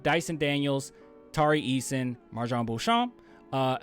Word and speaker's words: Beauchamp: daniels tarry eason marjan beauchamp uh hopefully i said it right right uh i think it's bouchon man i'm cr every time i hear it's bouchon but i heard people say boo boo's champ and it's like i'm